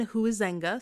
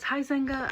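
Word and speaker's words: Huizenga: 1987 millionaire H Wayne who is Zenga sorry if I pronounced that wrong hi quick editing note I am 100 mispronouncing this man's name throughout the entire video it is hi Zenga I am so sorry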